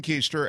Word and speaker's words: Koester: I was just raised to pronounce it Koester, and here we are now.